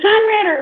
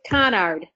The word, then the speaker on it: Conard: Is it Conrad, or do we have it spelled wrong? No, it's Conard.